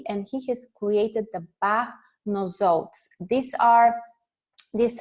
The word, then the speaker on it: Bach: Edward Park actually different people pronounce it in different ways it can be called back but I'm used to saying it dr. Edward back so here is he